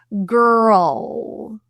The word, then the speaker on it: girl: But the transition from an R to an L is difficult. And you may hear a slight little vowel sound in between. It's something our tongue can do to help us transition. What I mean by that is girl, girl. You may hear this kind of with an L. It's not quite a schwa, but there is something there.